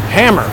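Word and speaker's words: HAMR: are pronounced hammer I still maintain that that's not the same as if it said H a.m.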